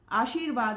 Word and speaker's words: आशीर्वाद: यहाँ पर शब्द है आशीर्वाद, तो मैंने आपको बताया था आशीर्वाद में हम र को छोटा सा प्रोनाउंस कर रहे हैं।